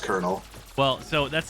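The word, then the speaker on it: Colonel: Network 3 blue or five kernel I always pronounced it in my head as colonal when I was a kid oh yeah yeah so I didn't know it was pronounced kernel well so that's not nearly as bad as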